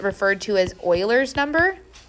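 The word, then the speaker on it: Euler: Also, if you're googling around for help, this is sometimes called referred to as Oilers's number. And yes, that's pronounced Oiler.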